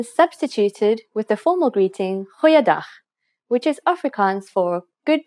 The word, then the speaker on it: goeiedag: G. Try pronouncing it from the back of your throat.